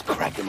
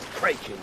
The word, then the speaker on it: kraken: I don't think it's cracking anyways always heard it said cranking oh with a long eye uhuh no no no no no no no cck are it's pronounced in the original Scandinavian and Kraken cler of that well